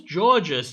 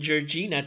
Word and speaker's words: Jorgina: Nicholas, who's Georges? You're mispronouncing Jorgina Cha Cha.